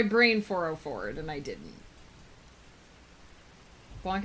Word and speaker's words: Blanc: Blanc is pronounced in a way I can't actually convey with English phonetics because the a isn't really a sound we have ber snatch cumberbunt